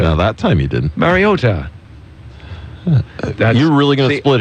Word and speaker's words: Mariota: No, you've got the emphasis on the O. Mariota. No, I don't. Mariota. No, that time you didn't. Mariota.